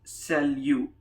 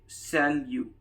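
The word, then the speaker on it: salut: third one is an informal one it is pronounced as sell you he is silent at the end and we say sell you sell you and it means hi this is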